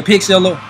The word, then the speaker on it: Pixlr: Yeah, Pixeler. Like, Pixeler, it's spelled Pixlr-O-Matic. Pixeler-Matic.